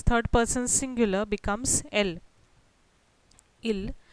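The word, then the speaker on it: ils: Il, the subject pronoun third person plural, becomes elle. Please note the S is not pronounced neither in il plural or elle plural.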